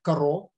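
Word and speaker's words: קארו: Значит, герой, о котором я собирался рассказывать, это Раби Йосеф Каро. Именно так его и надо произносить, как бы он ни писался, пишется он по-другому.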